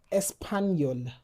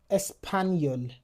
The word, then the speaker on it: espagnol: For example, chat chat chapeau exactement We also have the J N It sounds like ni. For example, espagnol. espagnol Exactement.